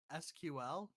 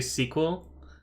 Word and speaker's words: SQL: Oh, here's another word to pronounce. I think you've seen this word before, maybe. SQL? Yeah. Is that how you pronounce it? That's how I'd say it, yeah. Yeah. So some people will say sequel. I say sequel. That's the other thing I would have thought.